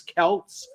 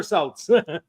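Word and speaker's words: Celts: because like I know it sometimes it's Kelts and then other times it's he's a it's never selts basketball is always Celtics but yeah yeah basketball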